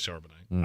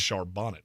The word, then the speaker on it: Charbonnet: good is that Zach charbonnet was considerably worse I only say his name correctly when he's good I know his shonet I don't care it's Shar Bonnet when you a when